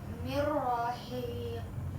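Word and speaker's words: مِن رَّاقٍ: Ini nun sukunnya tidak dianggap, langsung kita memasukkan hurufnya ke ro. iya. Jadi coba Mela baca. Mirrohiq.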